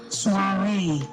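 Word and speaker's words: soirée: Suare. Suare. Yes. Am I pronouncing it well? Say it again. Suare. Suare. Yes, you got it. Suare. S O I R E E. Sare.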